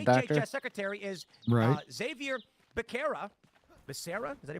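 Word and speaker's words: Becerra: scientist not a doctor secretary is uh Xavier barera Basera ises that he pronounce it Basera he is a lawyer former AG of California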